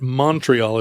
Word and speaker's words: Montreal: My mantra is that Montreal is pronounced that way.